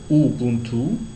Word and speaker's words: Ubuntu: euh linguisto culturel plutôt donc Ubuntu on le prononce Ubuntu alors c'est plus qu'un mot Ubuntu c'est plutôt